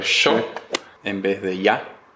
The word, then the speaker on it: yo: Y en lo que es pronunciación, lo más típico que seguro ya lo habrán notado es la Y se dice sh, como por ejemplo yo, en vez de ya.